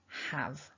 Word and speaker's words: have: here with have is that ah vowel like in the word cat have and hopefully you'll notice there that we're not pronouncing that e on the end it's the at the